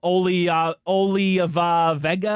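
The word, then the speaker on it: Olaivavega: Penn State uh Oolie Vega, I believe, is how he pronounces his first name, but he's the Penn State guard.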